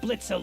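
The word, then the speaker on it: Blitzø: Fizz, may I remind you that the O is silent. I like calling him Blitz or Blitzo depending on my mood.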